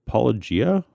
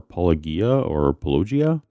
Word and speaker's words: Paulogia: I go with Paulogia or Paulogia. It's meant to be a play on the Greek word apologia, the one from the New Testament that means to give a defense, like a Christian apologist.